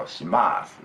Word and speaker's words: します: Last U is silent in Tokyo and Yokohama area in the standard language. So shimasu, we say.